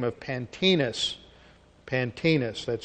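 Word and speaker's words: Pantaenus: his teacher, a man by the name of Pantinus. Pantinus, that's spelled P-A-N-T-A-E-N-U-S, Latin form, who died about A.D.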